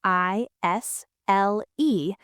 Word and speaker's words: aisle: It is spelled a i s l e, but we say isle like island without the and isle.